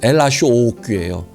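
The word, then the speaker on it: L.H.O.O.Q.: 이게 프랑스 말로 이것을 스펠링을 그대로 읽으면 엘라쇼오끼예요. 그러면 그것을 프랑스 말로 다시 하면 엘라쇼오끼예요.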